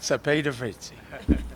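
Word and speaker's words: Cepeda-Freytiz: We also welcome Representative, I always have trouble with that, Cepeda Fritzi.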